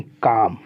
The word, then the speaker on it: calm: अब जैसे CALM है, ये क्या है, कालम नहीं काम।